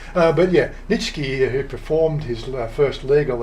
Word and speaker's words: Nitschke: Nitschke. It's almost like Nietzsche. But yeah, Nitschke, who performed his first